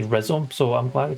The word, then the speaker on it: rhizome: I want to say rhizome, so I'm glad you pronounced that as rhizome.